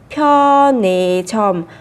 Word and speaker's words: 편의점: 편의점. 편의점. 그녀는 집 앞에 있는 편의점에서 우유를 샀어요. 그녀는 집 앞에 있는 편의점에서 우유를 샀어요. Các bạn lưu ý cách phát âm ở đây sẽ là pho nì chòm hoặc pho nì chòm đều được.